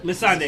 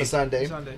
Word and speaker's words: Missandei: Say the name for me because I'm about to mispronounce it. She loses her friend. got your hands Missandei. Missandei.